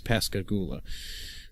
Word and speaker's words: Pascagoula: I'm hoping pronouncing that right. I think it's Pascagoula, because that's where they first met and where they started seeing each other romantically.